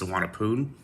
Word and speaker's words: Suvarnabhumi: By the way, it is pronounced Suvarnabhumi. It's spelled Suvarnabhumi, so don't make that mistake when pronouncing the airport. It is Suvarnabhumi.